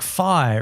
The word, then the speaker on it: Phi: It's pronounced like Fi, rhymes with I or fly.